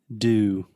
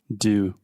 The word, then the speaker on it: dew: Do. What? Do.